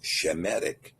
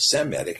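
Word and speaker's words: Semitic: Any tribe that comes from Shem is Shemetic, not Seeic. Again, that's a Yiddishized form of the word.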